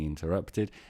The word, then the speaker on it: interrupted: interrupt interrupted we know we need to pronounce this Ed because of the T but it's a great passive I hate being interrupted and then using the